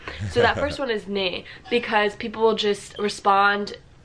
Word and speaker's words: nee: No, like Just say nee, and I think it's spelled N-E-E.